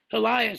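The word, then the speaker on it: Helias: remote uh way first you and just Mark helas that's how he pronounces it yeah yeah Mark helas and you would um how would you do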